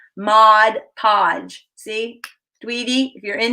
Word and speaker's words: Mod Podge: if you're in here i do pronounce it properly just saying just saying because a lot of people call it what do they say mod podge there's no modge in the title and i do